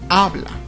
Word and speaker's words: habla: Habla.